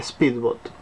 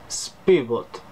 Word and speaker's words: Spybot: Y voy a Speedbot.